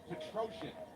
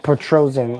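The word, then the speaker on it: Petrosyan: the now for gregory rodriguez it is armin patron yeah petrosian it's all right so that's how you say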